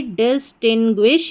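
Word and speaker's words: distinguish: फिर टी आई एन टिन बन गया डिस्टिन डिस्टिन और फिर लास्ट में ग्विश तो पूरी स्पेलिंग हमारी क्या बन गई डिस्टिंग्विश यानी कि डिस्टिंग्विश डिस्टिंग्विश डिस्टिंग्विश का हिंदी अर्थ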